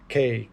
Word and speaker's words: Kambo: And so combo is just another one of these many healing modalities. Yes, purging. Thank you, Britney. How is it spelled? It is spelled with a K. Kambo.